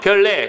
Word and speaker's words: 별내: 얘는 발음이 중요합니다 신문 노예요 그러기 때문에 신문노 발음하는 거요 종로 이도 비하지 종노 왕심리 역시 비음화 그다음에 별내 별내는 유마가 됐네요 별레 그래서 아까로 되는 거 리 되는 건로 정다